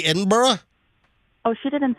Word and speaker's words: Edinburgh: morning it was great I don't think you're pronouncing it quite right but I'll let it slide no no it's it's Michelle it's Edinburgh Edinburgh I don't know you're not doing something quite